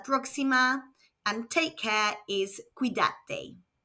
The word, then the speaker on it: cuídate: which in Spanish is Cuídate. Let's hear it again. Cuídate. Remember that when the C is followed by an A, O or U, it makes a K sound.